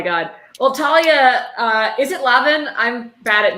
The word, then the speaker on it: Lavin: Well, Talia, is it Lavin? I'm bad at names and pronouncing them. It's Lavin, but nobody Lavin. ever gets that right.